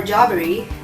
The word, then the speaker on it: Jaberi: In case people do not know who Mahlagha Jaberi is, or Jaberi, you can pronounce it either way, I guess it's a pronoun.